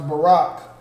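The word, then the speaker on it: ברך: so blessed is Morocco so Brock this pronounce Barack but the characters are the bow the raw and the car that's a characters that are included in that word Bob calm so of course in this pronounce Barack that means the BA is pronounced independently and the rah and the cop become one word which is rock Barack all right the rock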